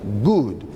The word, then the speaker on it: good: los sonidos del español, porque esta doble O que tenemos en la palabra good, por supuesto que no se pronuncia good. Escuche la diferencia. Good, good. Good, good. La expresión correcta sería entonces good morning y no good morning.